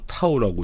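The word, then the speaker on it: τ: 토크, 타우라 쓰고요. 토크라고 읽습니다, 그냥. 그러니까 문자는 타우라고 읽는 거고요.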